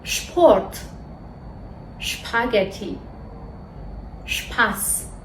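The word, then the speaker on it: Spaghetti: یا شپورت شپورت شپورت شپاگتی شپس دقت کنید که اینها رو اش تلفظ نمیکنیم نمیگیم اشپاگتی اشترس اشپورت میگیمپورت شپاگتی یادتون باشه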